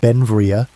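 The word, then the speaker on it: Beinn Bhreagh: Pronounced Benvia, Belle became an American citizen in 1882, but his name meaning beautiful mountain in Scottish Gaelic showed his Scottish heritage.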